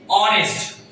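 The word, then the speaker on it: honest: এইচটা হলো এখানে silent letter. এটার উচ্চারণ যদি হনেস্ট হতো শুরুতে, এটার উচ্চারণ যদি হনেস্ট হতো, হ্যাঁ হনেস্ট, তখন কিন্তু এ বসতো, দ্যাটস হনেস্ট।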